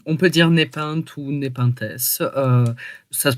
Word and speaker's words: Népenth S.: peut dire npinte ou népintesse euh ça se prononce plutôt népintess d'accord euh comme la plante carnivore ah je ne mais